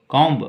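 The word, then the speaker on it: comb: मतलब होता है बम कम कम ब नहीं बी नहीं सिर्फ लिखेंगे कम ब का प्रोनंसिएशन बी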